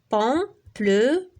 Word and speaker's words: pamplemousse: هذه S مع la syllabe الأولى و SE مع la dernière syllabe. pamplemousse 4 syllabes. كاين اللي كيدير لها 3 syllabes ولكن كاين اللي كيدير لها pamplemousse. هاد موس كلها كيجمعها في سيلاب وحده ولكن الاصح هي 4 syllabes.